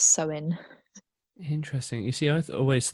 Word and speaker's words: Samhain: So there is two meanings, and Samhain is spelled Samhain, but it's Samhain.